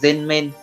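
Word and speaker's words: 全面: Cách đọc của nó là gen men, gen men.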